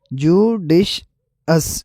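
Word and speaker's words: judicious: अगर इनकी प्रोनाउंसिएशन में फ़र्क देखा जाए तो पहला वर्ड है जुडिशल, जुडिशल, और दूसरा वर्ड है जुडिशअस, जुडिशअस।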